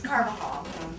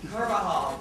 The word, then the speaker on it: Carvajal: no one knows how to pronounce my last name. It's Carvajal. Carvajal. Yeah, like you're carving a hall.